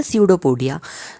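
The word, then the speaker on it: pseudopodia: erase कर देते हैं सीडो पोडिया की स्पेलिंग क्योंकि थोड़ी टफ है एस से नहीं स्टार्ट होती है पी से स्टार्ट होती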